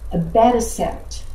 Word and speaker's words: abatacept: For co-stimulation modulator, the drug is known as abatacept.